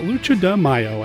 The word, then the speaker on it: Lucha de Mayo: around here a monster kid radio we call lucha DeMaio and I said it right this time I'm